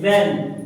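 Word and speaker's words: when: व्हेन। क्या लिखा है? व्हेन। अब है इसमें एच है जो इसमें एच है डब्ल्यू एच फैमिली में कई दफा क्या होता है कि एच साइलेंट होता है क्या होता है एच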